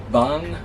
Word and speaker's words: 방: So 방 would be the NG sound instead of silent there.